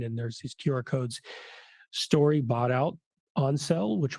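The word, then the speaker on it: STQRY: working with a company called story but it's spelled s-t-q-r-y regarding building an app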